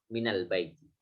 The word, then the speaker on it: minal baiti: Karena dalam keadaan seperti itu dimudahkan dengan difathahkan huruf nunnya menjadi minal baiti.